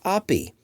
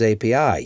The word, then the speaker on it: API: postgress now supports data OPI did I just pronounce API as OPI yes I did Ami has three syllables and so does API you can't have one